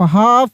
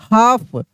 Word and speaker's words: half: HALF, हाफ, क्या पढ़ेंगे? हाफ, हाल्फ नहीं पढ़ेंगे, लक, एल का उच्चारण होगा ही नहीं, साइलेंट है, हाफ।